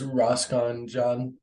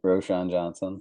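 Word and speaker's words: Roschon Johnson: a little bit there's roscon John wrote Roshan Johnson I butchered that name that's okay yeah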